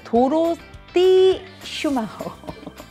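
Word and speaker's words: Dorothee Schumacher: 요거는 도로띠 슈마허.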